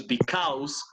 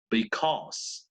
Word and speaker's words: because: Pero esa AU suena O, por eso no es because, sino because. Because, right?